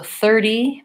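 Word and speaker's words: thirty: a flap sound so 30 verses 13 to differences 13 I'm gonna stress the second syllable versus 30 I'm gonna stress the first syllable that's the main difference secondly in 30 my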